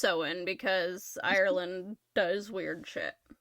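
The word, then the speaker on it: Samhain: Uh, and um back to ancient Ireland to a festival called Sewen. Um, it's it's spelled Sam Hayne for the record. It's pronounced sewen because Ireland does weird So,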